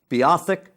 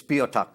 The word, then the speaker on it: Beothuk: Some people pronounce it Beothuk, but it's not. That's not the right way to pronounce it. It's Beothuk.